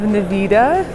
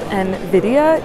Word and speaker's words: Nvidia: organizations here we have Nevada I'm just kidding about Nevada I know I made that I mispronounced it in my last video I know it's called Nvidia get off my back